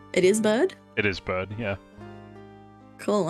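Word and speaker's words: Byrde: I'm Sorry Miss bad bride how is this pronounced it's bird it is bird it is bad yeah cool I'm above bourbon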